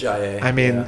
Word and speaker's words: Ajayi: Pretty sure it is Ajayi.